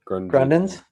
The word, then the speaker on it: Grundens: Grundens, yeah, Grundens is making they're making some inroads in the fly fishing industry.